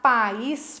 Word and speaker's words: país: Quando eu vou separar país, para não virar pais, né? País. Aonde está a sílaba tônica? No is.